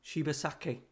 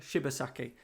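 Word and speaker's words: Shibasaki: She-Ba-Saki. She-Ba-Saki in Yorkshire. She-Ba-Saki.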